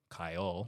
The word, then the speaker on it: Kaiel: So they did it phonetically. I guess this is the first people in the entire world to do this. Phonetically, if you, at least for English, Kai. Yeah. Kai. Yeah. Kaiel.